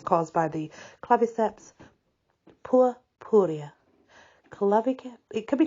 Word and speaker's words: Claviceps: it's caused by the claviceps it could be clavius it depends how you pronounce your C in Latin I know some people